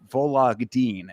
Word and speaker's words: Vologdin: Adrian Luna Martinetti versus Mark Vologdin is how you pronounce it.